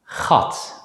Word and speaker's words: gat: For the sake of simplicity, we'll just pronounce the letter G as a voiceless consonant G in this class. Let's practice 3 example words. Gat, geest, dag.